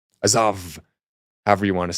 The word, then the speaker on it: Azov: And probably it's Azov, if we want to pronounce it like in Russia. Azov, however you want to say it.